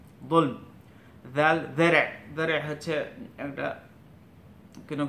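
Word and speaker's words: ذال: একটা হচ্ছে জাল, জাল এটা বাংলার জয়, কোনো জয়ের সাথে মেলাতে পারেন, বাট পুরোপুরি জয়ের মতো না, এটা জিহ্বাটা আগে লাগবে গুড়াই। জাল জাল, যেরকম সা সা উচ্চারণ হতো ওরকম জালটাও উচ্চারণ হবে।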